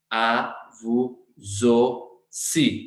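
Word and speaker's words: à vous aussi: Sound बना रहा है, तो au की साउंड कौन सी है, o, avuzosi, पर यहाँ पे स साउंड है, और लास्ट आई हम प्रोनाउंस करेंगे बिकॉज कॉन्सोनेंट है आई हमारे पास, एस हमारे पास कॉन्सोनेंट है, तो इमीडिएटली आई आ रहा है, so it becomes avuzosi, means same to you।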